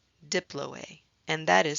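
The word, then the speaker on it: diploë: spongy bone has a special name it's called Diplo a Diplo a and that is spelled di PLO e-mount red bone marrow also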